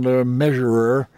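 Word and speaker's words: Le Mesurier: of Hattie Jack and John the measurer as I think it's come to be pronounced and of course Kermit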